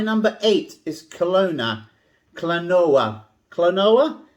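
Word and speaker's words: Klonoa: eight is kelowna clanoa clonoa that's how i pronounce it anyway i think there's a few different ways expect to pay about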